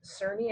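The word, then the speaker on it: Cerny: judge his name is Chuck um cery I think you have pronounced it c r n y um and that is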